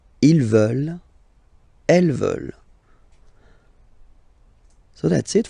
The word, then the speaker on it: veulent: And the last one, here, EU, and then ENT, classic ending, but then you don't pronounce it, so you get veulent.